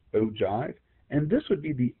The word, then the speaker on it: ogive: frequency table looks like it's also called an o Jive sometimes it's it looks like o give but it's pronounced ogive and this would be the ogive for the